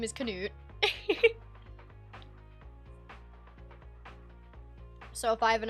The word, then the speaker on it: Canute: That's how can pronounced? Yeah, it's not Canut. His name is not Ket. His name is Canute.